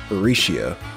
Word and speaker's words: Rixia: Hold up, is her name Rixia or Risha? Rixia.